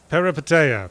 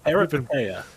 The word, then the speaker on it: Peripeteia: well, I might ask that my co-host, Marty Sleever, have a go at pronouncing the name before I do. Peripeteia? Peripeteia. Pretty good. Peripeteia.